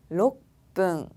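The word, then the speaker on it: ろっぷん: 그리고 6분은 록분.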